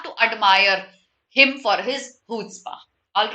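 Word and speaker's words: chutzpah: to refute the assertion now this word is pronounced as hootsba i'll repeat this this word is pronounced as okay love him or hate him you can you have to admire him for his hootsburgh all right is silent here absolutely correct okay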